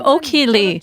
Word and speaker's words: Ok-Hee Lee: hello i'm crown master o'keeley sometimes i say it like this i'm okie lee who went from an